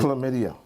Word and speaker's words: chlamydia: Now, pronounce the word for me again. Chlamydia.